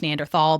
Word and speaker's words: Neanderthal: Neanderthals, which he says, I think I grew up thinking it was pronounced Neanderthal, but apparently it can be both because it comes from a valley in Germany that can be pronounced in a number of different ways.